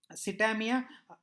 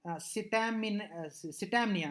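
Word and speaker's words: scitaminea: And Ostiloga Sitamia, I'm sorry, Sitamnia, I'm sorry, a wrong pronunciation. I'm extremely sorry about this. Sitamnia. I pronounced it wrong earlier.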